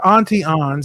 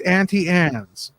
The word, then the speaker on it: Auntie Anne's: It's not Auntie Ann's, it's Auntie Anne's.